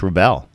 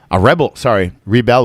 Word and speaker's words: rebel: Yeah, just rebel. Rebel would be the verb, to rebel. We would pronounce it rebel. And the noun, the person, would be a rebel.